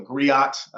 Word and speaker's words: griot: And I chose Griot B, a griot, also a griot in some pronunciations, a jelly in the Mande people and tradition.